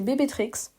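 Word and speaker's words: BB Trickz: sur Megga BBL, c'est bébé Trix. Ça s'écrit bébé comme l'abréviation du mot bébé. Donc de B à la suite. Trix euh T R I C K Z.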